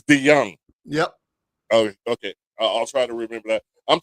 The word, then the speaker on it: DeJong: Uh, it's it's actually Dutch. So, um, it's actually pronounced D. Young has so many different spellings and, uh, but this is the OG spelling.